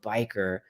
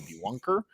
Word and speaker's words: B1ker: But if you want to spell it out, biker, just like the name biker, the word biker, the one in the dictionary, it's just a one instead of an I.